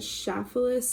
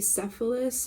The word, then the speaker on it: Cephalus: to look up was the chef Phyllis in procas but then I later find out that it was mispronounced and it's supposed to be cephalus who was the husband to